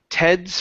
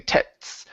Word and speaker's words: Ted's: Okay, so because to understand it, the D is a voiced sound. Okay, right now you're saying tets. You're pronouncing a T.